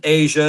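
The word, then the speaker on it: Aja: So, so the next one is 1977 is Asia or Aya. They pronounce it Asia. It's spelled AJ A.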